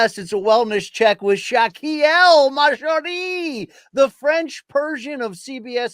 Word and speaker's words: Shakiel Mahjouri: But I did give a bad pronunciation of Shakiel. It is Shakiel Mahjouri.